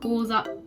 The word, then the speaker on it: 講座: For example, there is kanji, "講座 kouza".